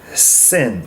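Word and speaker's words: שׂ: with right hand and sin with a dot on the left side is like a regular s sun sound okay and the final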